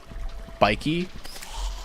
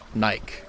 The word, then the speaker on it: Nike: It bothers me when YouTubers pronounce Nike like the word bike. Bikey. Bike. Nike.